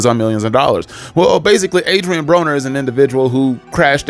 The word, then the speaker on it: Adrien Broner: And it's fitting that his name is Adrien Broner because it rhymes with boner considering that is how he was acting on this podcast.